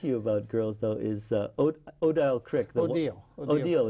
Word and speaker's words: Odile: And so the thing I was going to ask you about Girls, though, is Odile Crick. Odile, it's pronounced.